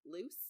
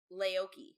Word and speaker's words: Leuce: were both calling her Luce. Yeah. Leuce. Catherine has started listening to the audiobook. That is not how you pronounce her name. It's Laoki.